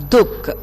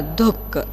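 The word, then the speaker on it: दुःख: So we should say this word dukh. Okay, du ha ka dukh. Like that you should pronounce. So this in this word, aha sound is silent. Okay, we should read this as dukh.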